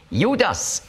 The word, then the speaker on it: Judas: Judas ist die griechische Aussprache von Juda, beziehungsweise Jehuda. Und zwar macht man eben noch ein S am Schluss, weil für griechische Ohren Juda, das klingt weiblich. Aber mit dem S ist es männlich.